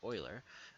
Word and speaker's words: Euler: that Euler is spelt e Euler but it's pronounced Euler and it came about when this guy was